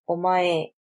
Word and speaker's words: omae: This pronoun is pronounced as omae and is very informal and used mostly by men.